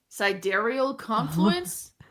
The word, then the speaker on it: Sidereal Confluence: And that is Sidereal Confluence. But see, the thing is, when you look at that one, I see 2 words. I see side and real, but it's not Sidereal Confluence. I know that.